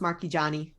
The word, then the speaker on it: Marchigiani: It's pronounced Marquis Johnny.